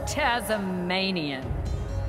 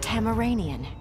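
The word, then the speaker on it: Tamaranean: your life for Norris so you're tazm manian it is pronounced tamaranian Tama let's get this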